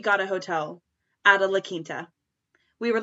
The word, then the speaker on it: La Quinta: it about no no no we stayed at la cuenta at another point yeah speaking speaking of la quinta i need to tell everybody oh that's how